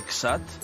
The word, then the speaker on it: CSAT: du centre subaquatique toulousain le csat prononcé xat plongeuse novice elle participe